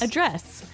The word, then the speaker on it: address: Address. Now, if you notice, it's spelled the same way as address, That's right. but you pronounce it differently. So the verb address has the stress on the second syllable.